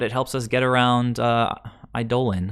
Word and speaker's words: Eidolon: Well, it's super slow, but it helps us get around Eidolon. I know some of you guys don't like that pronunciation, but it actually is correct, so deal with it.